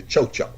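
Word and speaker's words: tchotcho: in 1665 which describes the chocha spelled like tcho space dcho now first thing I'm going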